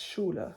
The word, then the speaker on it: Schule: And then school is Schule. So, right as in tschüss earlier, I said the s c h is pronounced sh. So, here it is again, the s c h which is pronounced sh.